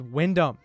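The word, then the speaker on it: Wynndham: just gonna say it my name is windham it's eight letters w-y-n-n-d all right that's my name i'm the only person in the world that has a name spelled like this all right it's pretty unique so thanks mom for giving me a dope name it's just like the hotels the hilton garden inn by wyndham except they spell it with one end i wish i was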